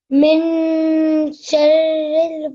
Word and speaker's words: مِن شَرِّ: The tone is a nasal sound in your mouth, so you don't pronounce it as as a proper noon sound, but it's a very slight nasal sound.